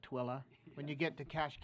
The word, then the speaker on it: Tooele: And if you've already learned Hurricane, and I know Tooele County, you've already learned it's not Tule, but Tooele.